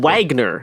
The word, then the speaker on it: Wagner: a German composer Wagner Garrison it's important to pronounce things correct Wagner it's to w Richard weggers um our Wags students were ordered to all